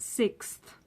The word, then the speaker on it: sixth: it, but it is pronounced sixth. Sixth. And it's quite difficult because of the th at the end, sixth.